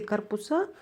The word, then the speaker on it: корпуса: На уроке физкультуры учитель сказал: поверните корпуса влево. Бул жерде корпус деген сөз көптүк түрдө корпуса деп деген мүчө уланып, анан ошого ударение түзүлдү.